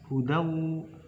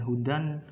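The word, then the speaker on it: هُدًى: Cara membacanya masuk langsung ke depan. Hudaw bukan hudan langsung hudaw wa shifa itu pada huruf fa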